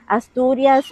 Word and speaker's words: Asturias: The views, the natural views are stunning, and is Asturias. Asturias is surrounded by the Cantabric Sea.